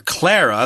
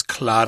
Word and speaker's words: Clara: later married Vic's daughter Clara or Clara that's how I would pronounce it but in German I guess it's Claud aha and she was an